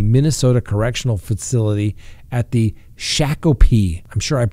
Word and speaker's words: Shakopee: Now, Potter was then transferred to the Minnesota Correctional Facility at the Shakopee. I'm sure I mispronounced that, but it's S-H-A-K-O-P-E-E.